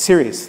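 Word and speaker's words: Seres: you chare a company called cus in my pronounce is correctly s e r s series therap uh it is it is it recently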